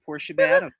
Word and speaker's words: Portia Badham: It is Portia Badham. Portia, And see? just like John Badham, who was the great